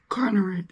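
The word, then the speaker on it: Konerak: Conrad, that's how you say his name.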